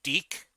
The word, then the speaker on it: DIC: Then again, this was a series created by I think Deke. It's spelled DIC, so it looks like it should be called something else.